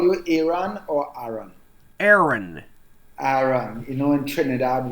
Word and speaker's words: Aaron: and should I call you Aon or Aaron Aaron Aaron you know in Trinidad we have so many different pronunciations for words and because of our dialect